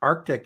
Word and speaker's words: Arctic: that that's how we spell the word AR Arctic is the pronounce is the proper way so it's the